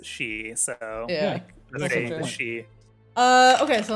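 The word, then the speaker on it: sidhe: now looks like banshee it's spelled s-i-d-h-e nobody's gonna understand i mean technically you technically you pronounce s-i-d-h-e as she so yeah uh okay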